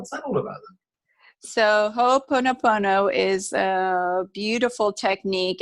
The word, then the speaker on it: Ho'oponopono: It's Ho'oponopono.